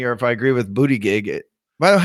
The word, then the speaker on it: Buttigieg: So it's Buttigieg. Buttigieg. Pete Buttigieg. Buttigieg. It all boils down to the vowels.